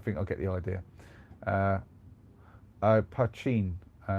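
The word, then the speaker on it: poitín: Pachin. That's how you pronounce it, Pachin.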